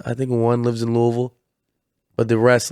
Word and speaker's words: Louisville: everybody Louisville you're going to Louisville no it's Louisville that's that's how you know natives that's how